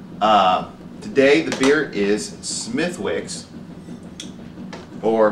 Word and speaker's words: Smithwick's: today the beer is smithwicks or smytix which is what i have heard a few of my irish friends call it uh i believe that's